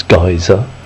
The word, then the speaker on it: geyser: I was reliably informed that the correct pronunciation is geyser. Apparently, I'm an old geezer, this is a geyser.